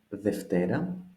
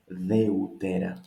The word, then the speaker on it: Δευτέρα: We start with Monday, η Δευτέρα, η Δευτέρα. We notice here epsilon, epsilon, they create an F sound, an invisible F sound. It is not Δεύτερα, that probably I would like to read.